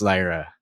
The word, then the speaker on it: Lyra: I just say I I need people to pronounce Lyra valkiria correctly I can't believe n Shaker and Cass keep calling her lra uh yeah EO has